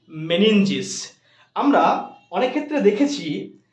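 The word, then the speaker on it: meninges: আবরণ রয়েছে ঢাকা কভার রয়েছে তার নাম হচ্ছে মেনিঞ্জিস কি নাম মেনিঞ্জিস বানানটা হচ্ছে এম ই এন ই এন জি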